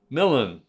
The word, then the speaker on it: Milan: actors have so much trouble accepting it is Milan or Milan the Italian city we say Malaya normal on Shakespeare very clearly prefers millen words you don't recognize be sensitive towards that